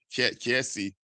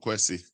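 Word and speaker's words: Kessié: Nah, Kiesi. There's no W. It's not Kwesi.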